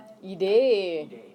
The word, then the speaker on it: Idee: Okay, so the word for idea is only one letter off from English. Okay, but it's pronounced idee.